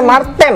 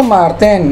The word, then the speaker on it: Mar10: Kenapa Mart 10? Bacanya Marten kan? Itu Marten.